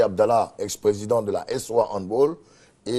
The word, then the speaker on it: handball: D'accord, Serge Dakouri, on a du mal à dire handball. Hein. Handball. Oui, handball. Il faut dire handball. Ouais. C'est une prononciation. C'est plutôt allemand. Allemand. Non anglophone. Non. Voilà, c'est pas anglais.